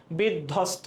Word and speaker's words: বিধ্বস্ত: দেখো বিধ্বস্ত, এখানে বয়ের কোনো উচ্চারণ নাই।